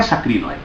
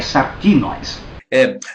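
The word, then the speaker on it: σαρκινοῖς: Não é sacrinoi, é sarquinóis.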